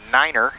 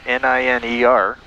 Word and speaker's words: niner: t-r-e-e five is spelled f-i-f-e 5 9 is pronounced Niner n-i-n-e-r three five Niner are the proper ways to